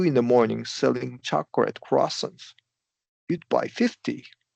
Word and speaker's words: croissant: Well, amore you you didn't mispronounce it necessarily, but it sounded like you said croissants. You emphasized the first syllable and we want to stress the second song.